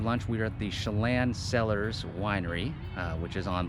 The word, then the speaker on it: Tsillan: we were at the chelan cellars winery which is on lake chelan it's actually spelled t-s-i-l-l-a-n but pronounced chelan uh they have a